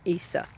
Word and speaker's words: ISA Brown: i ordered online now these issa browns or isa browns i pronounced some ice i've heard other people pronounce them issa they don't suffer at